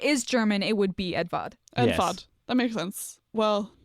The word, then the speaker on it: Eduard: It might be pronounced like Edvard.